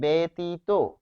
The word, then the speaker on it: ব্যতীত: ফলে বেতীত। ব্যতীত অর্থাৎ জফলা যখন রয়েছে সেই জফলার পরে যদি রসই দীর্ঘই থাকে তাহলে সেখানে বানানটি হবে উচ্চারণটি হবে এ দিয়ে ফলে এখানে এ আর